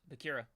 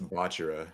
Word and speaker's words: Bachira: How do you say it? It's It's Bachira.